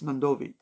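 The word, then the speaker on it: Nadovi: Yeah, that's how it's spelled in Fijian, but it's Nandovi. That's how we say it.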